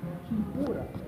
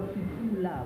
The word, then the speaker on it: kipura: It is a Portuguese mispronunciation of the Kikongo term kipura. And kipura is a reference to a specific fighting style from the warriors in the area which is of the Kingdom of Congo. And these warriors use a specific method. Dr. Nseke Fukiao, who is the world's leading expert and scholar in this area, specified that Kipura or Kipula, which is spelled K-I-P-U-R-A, Kipura, or K-I-P-U-L-A, Kipula, refers to the fighting